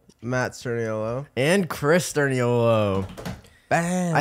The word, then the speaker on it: Sturniolo: Like Nick Sturniolo sounds like Nick's turn yellow. Nick. Like Nick turns yellow. Like that's what I always hear. That's how people like make our last name wrong when they say it.